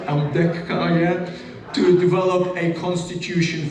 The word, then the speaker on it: Ambedkar: Ambedkar, let me pronounce it right, Ambedkar, yeah, to develop a constitution for India.